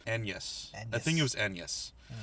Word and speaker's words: Agnes: That is about William Shakespeare and his wife, who most people refer to as Anne Hathaway, but apparently, technically, the name is more correctly pronounced Agnes.